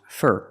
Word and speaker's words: for: a loss for words four is pronounced fur fur because it's not stressed I'm at a loss